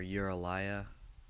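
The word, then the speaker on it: Uralya: first one first one's called u-r-a-l-y-a or uralia if you want to say it like that he says that in the song it's pretty much about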